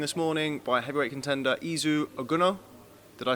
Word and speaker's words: Izu Ugonoh: I'm delighted to be joined this morning by heavyweight contender Izu Ugonoh. Did I say it right? Yeah, that's pretty good. Izu Ugonoh.